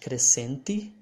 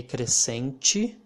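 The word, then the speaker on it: crescente: or change or chance that's the way the letter t sounds before letter e and before letter i okay cresenchi i mean guanchi and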